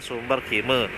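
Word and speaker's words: Sumberkima: Contoh seperti tadi kita masuk di Desa Sumber Kima, tapi dibacanya Sumber Kime.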